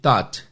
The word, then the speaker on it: taught: A pronúncia é simplesmente T-O-T, taught.